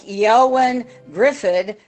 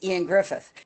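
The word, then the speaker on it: Ioan Gruffudd: was in Fantastic 4 and it looked like Yoan Griffid, but when you actually look at the pronunciation," I said, "It's Ian Griffith."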